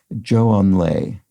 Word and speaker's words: Zhou Enlai: Sorry, I'm pausing because someone corrected me about this pronunciation. I think Zhou Enlai, I think, is better than what I used to say, which was something like Zhou Enlai or something.